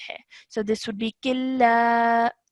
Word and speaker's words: كلا: This would not produce a nasal sound. This is the rule of idgham kamil. So that means that whilst you're joining, you would straight away join the sound of kaf to the lam and ignore the sound of the noon sakin over here.